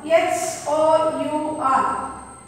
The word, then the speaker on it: hour: H-O-U-R. It is pronounced as hour.